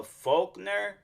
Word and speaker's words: Faulkner: Pro okay so like Gary uh folkner that's how you say his name Gary Faulkner uh Jr